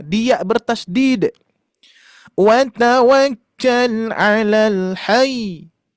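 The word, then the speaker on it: الحي: Wa tawakkal 'alal hayy. Oh, gitu, bukan hai, hai. Hati-hati. Ini sering terjadi ya. Dibacanya alal hai, alal hai gitu ya.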